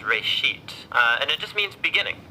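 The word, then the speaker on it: ראשית: Genesis comes from a Hebrew word, it's pronounced reshit, and it just means beginning.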